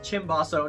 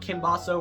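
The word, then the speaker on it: cimbasso: Yes, it's pronounced chimbaso, not kimbaso or simbaso.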